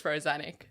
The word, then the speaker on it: Rozanic: well, when my grandpa migrated from Croatia, no one could pronounce Rozanic, so he just ditched the itch and it's Rozanic.